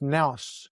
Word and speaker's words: nous: And yes, I've got some notes here because the pronunciation is Nos.